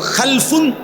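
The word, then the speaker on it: خَلْفٌ: খালফুন আরেকটা হল খালাফুন একই শব্দ শুধু উচ্চারণের মধ্যে একটু ভিন্নতা মাঝখানে একটা লাম আছে। এই লামটার মধ্যে যদি সাকিন হয় তাইলে হল খালফুন। আর যদি লামের মধ্যে জবর হয় তাহলে হল খালাফুন। আরবি শব্দ।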